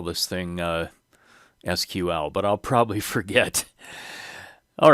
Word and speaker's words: SQL: for structured query language many people pronounce this as sequel but my understanding is that sequel spelled out is another query language so i'm going to try to remember to call this thing sql but i'll probably forget